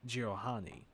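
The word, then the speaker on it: Jiralhanae: It was clear to Thel that many didn't believe the Jiralhani.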